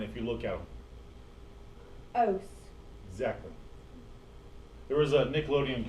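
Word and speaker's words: -ose: Ose. Exactly. There was a Nickelodeon commercial a long time ago. It said if it ends in ose and rhymes with gross, it's a sugar.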